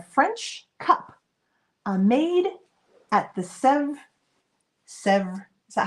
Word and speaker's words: Sèvres: So Anne says don't pronounce the S at the end. Sèvres.